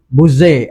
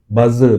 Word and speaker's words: Buzze: Malam ini bersama kita adalah saudara atau lebih dikenali sebagai Buzair. Ya, betul. Ya, Ui, kali pertama orang pronounce nama tu betul. Oh, Kali pertama. Sebab biasa orang buzzer.